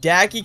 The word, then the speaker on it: Dacky: Wait, Dacky kind of rhymes with Jackie.